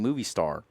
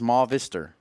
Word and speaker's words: Movistar: F Silva has said please stop saying movie star it's ma vistor and you know what